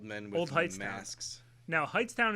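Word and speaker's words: Hightstown: with heightened masks now heights town is spelled in a very odd turn of events h-i-g-h-t-s t-o-w-n um can you open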